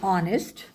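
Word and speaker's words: honest: कुछ silent letters वाले शब्द जो कि स्टार्ट तो कंसोनेंट से होते हैं बट उनकी जो साउंड होती है वो वोवेल साउंड होती है। जैसे एन आर एन ऑनेस्ट एन एमएलए an honour N एयर।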